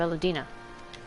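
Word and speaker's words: Velodyna: will be to capture Castellum Valadina. Take the bridge, and the whole of the fringes will be ours. From there, we can push east towards the peaks. Oh, so that's how you pronounce it. Velodina.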